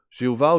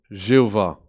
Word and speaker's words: Jéhovah: Ça donne un mot comme Yahovah, ou historiquement on a dit Jéhovah, surtout en français. Donc la prononciation, en fait, de Jéhovah vient de cela. C'est les consonnes de ce mot, traduit éternel, avec les voyelles du mot pour Seigneur, Adonai.